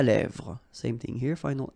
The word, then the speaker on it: lèvres: Final S not pronounced. Lèvres, okay?